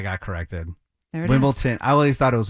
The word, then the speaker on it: Wimbledon: Wimbledon. It's it's DON. Like downtown. Okay, hold on. Say Wimbledon. it correctly again. Wimbledon. Wimbledon. Mhm. Okay, I got it because I got corrected. There it is. Wimbledon.